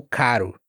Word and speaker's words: caro: Já o R entre vogais é mais parecido com o som da palavra water. Water. Embora seja um T em inglês, você fala R. R r. water. Então esse esse R é mais parecido com o caro, com o barato.